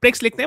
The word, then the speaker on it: Prix: Canadian Canadian Grand Prix Grand Prix Prix but we pronounce it as Prix.